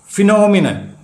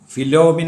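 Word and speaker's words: phenomena: criterion എന്ന് പറയണം അടുത്തത് ഫിനോമിനൻ പ്രതിഭാസം അതിൻറെ പി എച്ച് ഇ എൻ ഓ എം ഇ എൻ ഓ എൻ ഫിനോമിനൻ അതിൻറെ plural form is ഫിനോമിന ഫിലോമിന അല്ല പി എച്ച് ഇ എൻ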